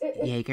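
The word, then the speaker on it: Jäger: It's Jaeger.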